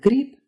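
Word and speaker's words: гриб: So the b at the end of grip is pronounced p, and the g at the end of pirog is pronounced k.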